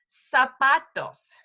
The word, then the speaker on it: zapatos: little off because really whenever you see a z in Spanish it's an S so here's an example Zapatos Zapatos as soon as so